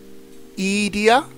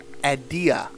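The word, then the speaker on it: Edea: a question for y'all do you say her name as edia or idea I think ideas with the correct pronunciation but I just tend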